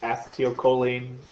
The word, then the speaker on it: acetylcholine: Acetylcholine. I've also heard it pronounced acetylcholine. I had an instructor that talked about it that way, or pronounced it that way. I've always said acetylcholine.